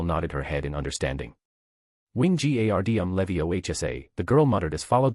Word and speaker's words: Wingardium Leviosa: "The pronunciation will be Wingardium Leviosa," once again the man slowly explained and the girl nodded her head in understanding. "Wingardium Leviosa," the girl muttered as followed the wand movements